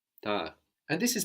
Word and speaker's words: tard: Late, late in French is tard, Tard. tard. And this is spelled T-A-R-D. So the final consonant in French, as we have been seeing, is rarely pronounced T-A-R-D, but we say tard.